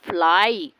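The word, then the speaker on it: fly: community okay slab होगा और Y last में आएगा तो उसको पढ़ा जाएगा ए आई for example फ्लाई क्राई जबकि लास्ट में वाई आ रहा है तो फ्ले और क्रे होना चाहिए बट प्रोनाउंस क्या होता है फ्लाई क्राई वर्ड्स ऐसे होते हैं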